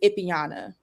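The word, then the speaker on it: Ipyana: So, my my middle name is Ipiana and it's spelled I P Y A N A.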